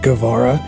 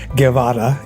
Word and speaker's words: Guevara: by saying Guevara, and most of my life you grew up hearing it pronounced as Guevara, Guevara, Guevara, and when I stopped being embarrassed about the origins of my name, I started pronouncing it the way my dad said it, as Guevara, and most of the